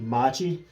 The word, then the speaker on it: Matte: now you see here this is spelled the classic way m a t t e Machi okay if you go to Brazil now they refer to the T with TT sha T they referred to that as Machi but now they spell it with a single T instead of a Double T but Machi Leo they